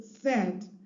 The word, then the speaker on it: said: or is reminded that this word is pronounced said so to break down the word into its fores then the child can say s a d said to spell and pronounce